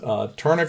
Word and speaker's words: Tourna: So the overgrips that we're going to put on, that we're going to look at, are going to be this one is Turna grip.